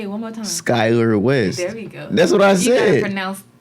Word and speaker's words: Skylar West: But yeah, Skyward West. And Skyward West. Who? That's your name, right? Say it one more time. Skylar West.